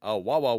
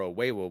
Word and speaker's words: Awawa: So, to Shonen Jump goes the first ever manga that Toriyama would write, something named A Wawa World, or A Weiwa World. Saw it pronounced a couple of different ways.